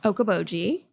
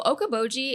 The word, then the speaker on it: Okoboji: and the town you grew up in is Okoboji which is 30 minutes away from can you spell that yeah of course all right next episode